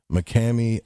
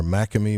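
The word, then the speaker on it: McKamey: This is what every person must utter after falling or failing to complete a tour of McCamey Manor, or Macamey Manor. That's spelled M-C-K-A-M-E-Y.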